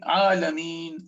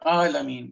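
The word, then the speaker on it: عالمين: are pronouncing ayn is somebody might say and they're thinking alameen. This is not alameen, this is alameen.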